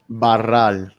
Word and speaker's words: Barral: Barral. You have to roll the R.